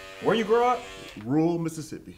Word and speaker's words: Mississippi: you grow up rural Mississippi Mississippi Mississippi Savior all right not Mississippi Mississippi there's there's some syllables in there that you gotta pronounce them all not just running all together okay but brought up